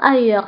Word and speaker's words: ailleurs: Allons ailleurs. فانتبهوا بالنسبة لأيور كنكتبوها بأس في آخر الكلمة ولكن ما كنطقوهاش.